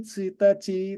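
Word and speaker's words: ついたち: Itu cara bacanya beda. Suitachi. Ya. Fuska. Tanggal 1 itu Tsuitachi, tanggal 2 Futsuka, tanggal 3 Mika.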